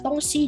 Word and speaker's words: 东西: melihat bahwa di sini Laoshi kok nggak bacanya tongxi, karena kan di sini tulisannya xi, aslinya dia nada satu, tongxi gitu. Sebenarnya kalau misalnya teman-teman pengen baca tongxi juga boleh sih, karena memang ini sebenarnya tergantung dengan daerah masing-masing.